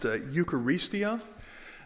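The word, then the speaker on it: εὐχαριστία: The original Greek word that shows up here was, I don't know how to pronounce Greek all that well, but I think it was pronounced Eucharistia. So a lot of people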